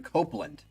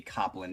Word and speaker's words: Copland: This first one is starting off with a classical piece by American composer Aaron Copland, pronounced Copland. Yeah. Yeah, I didn't think it would be Copland, even though there's no E.